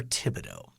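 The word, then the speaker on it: Thibodeau: is it Fido or Tibido it's a th to begin that but is the H essentially silent or I believe the H is silent so Tibido TI not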